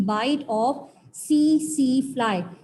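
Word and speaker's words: tsetse: दोनों का transmitting agent जो ट्राइपेनोसोमा है ये ट्रांसमिट होता है बाय the bite of सी फ्लाई। यहाँ पर टी होता है साइलेंट, ठीक है, टी फॉर ट्राइपेनोसोमिएसिस एंड टी फॉर सी फ्लाई।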